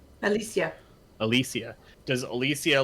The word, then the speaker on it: Alicia: Is it Elisa? Alicia.